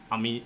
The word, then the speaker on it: Amit: I normally say Ahmed like Comet, but I feel like there's a couple of different pronunciations. But my preference is Ahmed. You can say Ahmed or Amit, but I'd go for Ahmed.